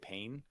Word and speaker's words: Payne: a cool sounding name, you' take VJ Payne, which almost rhymes with name.